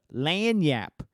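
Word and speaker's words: lagniappe: uh most places here let you see how it's spelled real quick there you go l-a-g-n-i-a-p-p-e and uh if you ask alexa you say hey alexa play the lan yap show that's how you have to say it for her to uh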